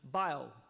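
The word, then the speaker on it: Bayou: left bank of buffalo i'll i'll try to pronounce it in good houstonian fashion bio there's a story there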